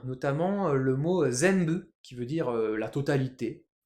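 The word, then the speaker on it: 全部: hein, zenbu, et bah comme ça se prononce plus ou moins zembu, hein, zembu, on entend plus un phonétiquement, un m.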